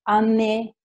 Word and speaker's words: année: France ha la E muta, O-U si legge U, A-U si legge O, la G di long non si sente, année c'è l'accento, quindi la E in questo caso si sente.